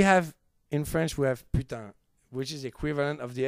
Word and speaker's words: putain: We have, in French, we have putain, which is equivalent of the F word. Oh, well, you can say that. But When putain, people we Well, can it say doesn't it.